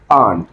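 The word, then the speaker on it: aren't: अगर आर नॉट है तो उसका बनेगा आंट। अब इसमें साइलेंट हो जाएगी आर, आंट।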